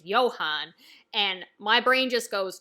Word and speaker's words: Johan: It's Johann, which with the German pronunciation is Johann.